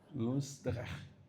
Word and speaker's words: Loosdrecht: It took me 3 hours to pronounce his name correctly. Loosdrecht, yeah?